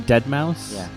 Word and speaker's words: deadmau5: this one is I'll even know how to pronounce the name ass DeadMau is a dead mouse it's dead mau5 deadmau5 you see [ __